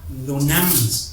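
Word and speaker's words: δύναμις: Así se pronuncia, dunamis.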